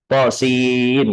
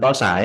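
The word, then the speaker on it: طس: Terakhir tentang qasin ini, bacanya itu to-nya 2 harokat, sinnya 6. Tosin gitu, bukan tosa ya.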